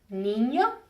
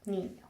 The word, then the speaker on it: niño: we went over that, it's pronounced like the NY in the word canyon. An example of a word that has that is niño, which means child, niño or niña.